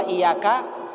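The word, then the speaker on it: إِيَّاكَ: Kalau dia sudah tahu, maka wajib bacanya ditekan tadi. Ya-nya ditasydidkan. Iyyaka na'budu wa iyyaka nasta'in.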